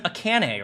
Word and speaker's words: Akane: the room toward her it's pronounced like the ah in Amish no no no no her name is akane Right akene hi my name is akane so of course it's